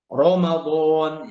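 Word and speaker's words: رمضان: tafkhim yang pertama adalah ro berharakat fathah Ramadan ya Ramadan Ramadan itu dibaca tebal Arrahman arro ya Kemudian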